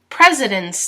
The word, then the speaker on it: Presidents: so let's pronounce it Presidents Day prayer ha ha peretta zip and you'll notice that this s sounds like a Z pred Z dent and there's the s